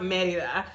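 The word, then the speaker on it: Mérida: Like we would pronounce it Merida, but it's pronounced Merida.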